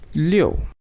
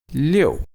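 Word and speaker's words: 六: write it is fourth stone and it is pronounced as leo leo leo as we go ahead it is 7 7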